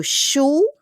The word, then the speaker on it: chaud: So, chou et chaude pag femina. Chou, we don't pronounce le D.